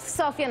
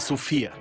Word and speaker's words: Sofia: It’s Sofia, not Sofia. It was fantastic.